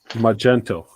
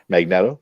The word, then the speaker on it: Magneto: that the warner's got magento magneto oh i love how you pronounce stuff how else would you pronounce magneto magneto magneto not magento yeah i know that